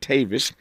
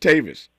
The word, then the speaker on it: Tavis: spelled t AV v i s uh he pronounces his as I said Tavis uh and I am Tavis this should be